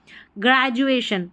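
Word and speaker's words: graduation: है ग्रेड पढ़ेंगे लेकिन इस स्पेलिंग में यहां डी जो है ना इसका उच्चारण ज करके होगा इसको ग्रेज पढ़ना है।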